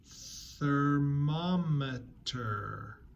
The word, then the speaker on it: thermometer: Thermometer. Thermometer. So that's 4 syllables long. It's a long one. It has the word mom in it. So make sure you're saying mom in the middle.